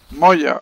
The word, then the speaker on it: Moya: Moya. The pronounce my name.